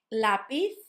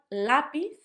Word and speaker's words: lápiz: The second one, lápiz, lápiz. So a lot of my students start saying lápiz. Obviously, we're going to talk about the phonics of the letter Z and how it's like sound and not s, although it can also be s, coming soon. So lápiz and not lápiz.